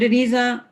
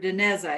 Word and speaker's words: Dineza: thank you uh mr denisa you may proceed or i apologize i keep mispronouncing that name it's mr dineza is that correct yes your honor thank